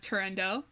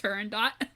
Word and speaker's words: Turandot: So moving on to our next warhorse, we have Turandot, which I, until recently, thought was pronounced Turandot.